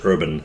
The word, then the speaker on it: vrbn: on the screen here it's pronounced urban by the way yeah so if you